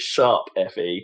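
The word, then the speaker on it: Tokyo Mirage Sessions ♯FE: Oh no, sorry, it's not hash. You pronounce it sharp FE.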